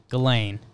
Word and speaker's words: Ghislaine: Picture it as like Elaine with a G. Ghislaine.